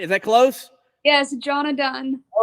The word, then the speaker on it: Johnna Dunn: Jonna Dunn, right? Is that close? Yes, Jonna Dunn.